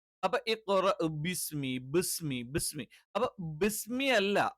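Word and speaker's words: بِسْمِ: വരില്ല പകരം എന്ത് ചെയ്യും ഇ ഈ രണ്ടിന്റെയും ഇടയിലുള്ള ഒരു ഉച്ചാരണം വരും അപ്പോ ബിസ്മി ബിസ്മി ബിസ്മി അപ്പോ ബിസ്മി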